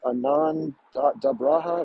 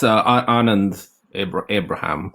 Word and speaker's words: Anand Abraham: Is it Anand Dabraha? Am I saying it right, Anand? It's Anand Abraham.